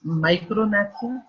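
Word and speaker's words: micrognathia: अब ये जो स्मॉल मैंडिबल है इसको माइक्रोनैथिया कहते हैं, जी इसमें साइलेंट है, सो इट इज माइक्रोनैथिया।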